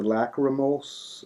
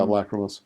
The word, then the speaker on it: lachrymose: I don't even, not even sure how to pronounce this. The Lachrymos Yeah, lachrymose.